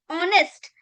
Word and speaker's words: honest: So the H sound remains silent.